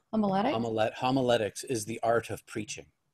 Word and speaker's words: homiletics: as a staff writer for how do you pronounce a homolytic homiletics is the art of preaching that's beautiful okay